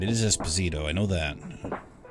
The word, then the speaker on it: Esposito: need to see it sure but you did pronounce his last name right it is esposito i know that okay cast here we